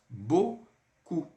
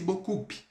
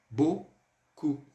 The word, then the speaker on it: beaucoup: U, então vai ficar beaucoup. E o P, ele é mudo, a gente não vai pronunciar, não vai ficar merci beaucoup. Jamais, nunca vamos falar dessa forma. Merci beaucoup, ok?